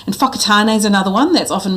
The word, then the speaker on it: Whakatane: often referred to as Wakatane. So the key mistake here is that Māori use the WH is pronounced actually as an F sound.